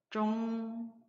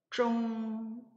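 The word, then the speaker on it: 中: 한글의 자음에 해당하는 성모, 쯔와 한글의 모음에 해당하는 옹이 결합해서 하나의 음절을 이루고 거기 위에 일성 성조 부호가 표기되어 있으므로 해서 일성 발음으로 중자를 발음해 보면 쫑, 쫑 이런 발음이 나요.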